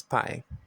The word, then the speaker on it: pie: That's why it's pie, and it's not P, because you're making use of the long sound, all right? It's pie. The third is dial, I-A, 2 vowel letters.